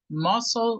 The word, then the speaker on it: muscle: Just the pronunciation is muscle group. Muscle group. Yeah, aquí la C es muda, muscle group.